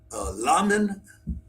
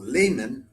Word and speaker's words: Lamin: to call him, then we have Lamin, or Layman, but I would pronounce it Lamin, I think, Fofana.